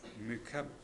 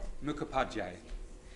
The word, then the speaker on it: Mukhopadhyay: I'm pleased now to invite to the podium Rishika Mukab. Yeah, it's a long one. Can you tell me how to pronounce it? Sorry, I should. Mukhopadhyay.